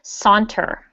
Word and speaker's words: saunter: okay hunter yeah so the beginning sounds like the word sauna so if everyone can repeat after me saunter santa santa santa santa